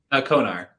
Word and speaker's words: Konar: Konar.